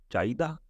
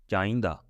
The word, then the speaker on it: ਚਾਹੀਦਾ: But it has three pronunciation, little bit different, slightly different, not big difference. Yeah, it depends where people live. Somebody can say chahida, another person can say chahida, another person can chahinda.